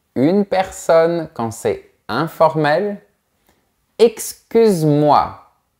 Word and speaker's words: excuse-moi: personne quand c'est informel excuse-moi on ne prononce pas le E avec une personne quand